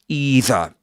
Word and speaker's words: either: either with a long e sound at the beginning rather than rather than with a dip thong.